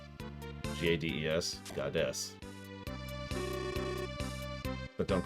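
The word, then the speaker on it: Gades: there was because that's how we know it's pronounced goddess which is still dumb you know what's really funny in imperial that is how gadey's would be pronounced g-a-d-e-s goddess but don't call him that well that's a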